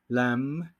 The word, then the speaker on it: lamb: Ahora sí, la B silenciosa. Aquí, como vamos a ver en estas dos palabras, no se dice la B.